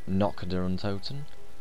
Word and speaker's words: Nacht der Untoten: got it written down apparently it's pronounced knock down totem but i'd like to say because it sounds more german to me but here we